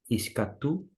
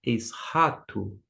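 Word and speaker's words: eschatos: Existem duas maneiras de pronunciar. Alguns vão dizer escatu, ou escato, ou esrato. Eu pronuncio com CH alemão, esrato, no sentido da onde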